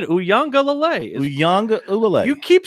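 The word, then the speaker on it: Uiagalelei: I mean, I'm breaking it up syllables just to say it. It's Uwangalale. Uyang Ulale. Uyangalale is what it is.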